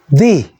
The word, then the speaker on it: the: 그래서 윗니, 아랫니 사이에 혀를 살짝 내밀어 보십시오. 너무 내미시지 마시고, 너무 내면은 발음하기가 어렵습니다. 살짝만. 그러고 너라고 소리 내십시오. 안으로 잡아 이으면서 너 혹은 the. 네, 그 소리가 TH가 디귿 소리 날 때 바로 돼지 꼬리 발음이라는 것입니다.